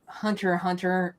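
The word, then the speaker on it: Hunter × Hunter: yeah her usually when Hunter Hunter or basically the guy that does YuYu HW show basically they don't pronounce the X it's pronounced Hunter Hunter and okay I didn't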